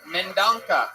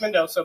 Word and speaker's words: Mendonca: All right, Mendonca. Am I saying that correctly? It's Mendoza, but it's... Mendoza. Yeah, it's spelled like shit.